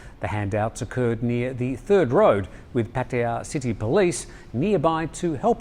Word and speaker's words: Pattaya: Pattaya. Again? Pattaya.